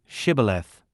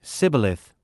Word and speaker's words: Shibboleth: They would say to him, Then say, Shibboleth. And he would say, Sibboleth, for he could not say it correctly.